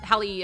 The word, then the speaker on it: Halle: it's Hallie right like Hallie okay yeah Hallie uh Bailey right yeah double check I'm just bad at remembering names anyway um Hallie Bailey uh was like her voice is so